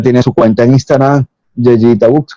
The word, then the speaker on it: yeyitabijoux: Eh, Ella tiene su cuenta en Instagram, Yeyita Books. Corrígeme, nuevamente, porque siempre se me hace difícil pronunciar tu nombre de Instagram, De usuario. de usuario. Arroba Yayita. Arroba Yeyita.